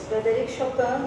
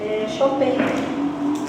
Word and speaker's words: Chopin: A pronúncia que ficou mais conhecida é essa, Frédéric Chopin, por conta de ele ter passado um importante período da vida dele na França.